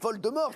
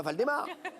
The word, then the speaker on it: Voldemort: Non, mais c'est Voldemort, pas Valdemar. Vous avez changé les voyelles.